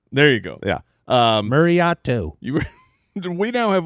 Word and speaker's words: Mariota: Because I'm sorry, Mariota. There you go. Yeah. Mariotto. You were. We now have like 3. I know.